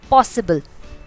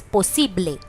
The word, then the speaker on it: posible: Another word that we will be seeing is possible. Possible. It is also very similar, just the tone or the pronunciation changes. It becomes posible.